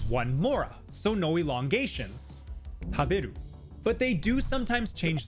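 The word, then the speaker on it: たべる: For example, in our sentence, we say the word taberu. But can you hear where the pitch is? Taberu. It's on the be in the middle.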